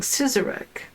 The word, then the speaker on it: Sizergh: Sizergh. You were cordially invited to Sizergh Castle by Lord and Lady Elsbeth. Sizergh, pronounced Sizer with a long I. Sizergh Castle. The GH is silent.